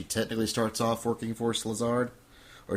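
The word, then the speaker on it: Szilard: Salazard is how it's pronounced. Listen, if you say it like this, Salazard. Say now say it faster.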